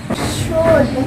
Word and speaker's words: should: L there is not included. Okay? Naa ang L sa spelling but in sounding wala dapat ang L. That's why I put X in there because that is silent L.